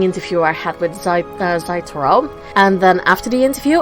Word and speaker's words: Zaitohro: joined by yet another brand new voice welcome zaitaro thank you i appreciate you having me did i actually pronounce that correct now yes you did you